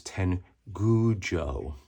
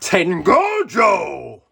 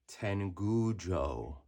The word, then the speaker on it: Tengujo: I'm going to use Tengujo. Not Tengojo! Tengujo. That is how you pronounce it, everyone. It's not Tengojo, but Tengujo.